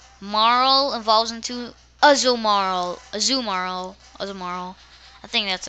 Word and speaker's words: Azumarill: evolves into Azul moral azumaro or tomorrow I think that's a I think that's how you pronounce it it's basically marwa with an Azu so a zoo moral which is kind of